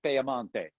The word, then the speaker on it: Piemonte: Piedmont, Piedmont, or you can also call it Piemonte. Piemonte is how they say it in Italy.